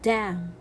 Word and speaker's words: damn: n in many words but when it is next to letter m so it will be a silent letter as in words like damn i see here letter n coming after letter m so i will not pronounce it and i will see it as a silent letter so i will read it damn autumn here i have